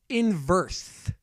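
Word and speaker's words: In-Birth: a game called under night in verse it's spelled like this ya see this part here in verse that's that's how the developers have said it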